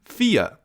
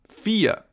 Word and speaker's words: vier: Our next number is 4 or in German, vier. Vier. Pretty similar to English, right? Vier. We pronounce it just like the English word fear, if you fear something, for example.